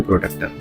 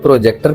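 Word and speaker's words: protractor: सुनिए, आयुष बिल्कुल सही बोल रहा है, इसी का नाम है प्रोटेक्टर, ठीक है। इसको कई लोग प्रोजेक्टर प्रोनाउंस करते हैं, कई लोग, जी हाँ, प्रोजेक्टर प्रोनाउंस करते हैं कई लोग जो प्रोजेक्ट करते हैं।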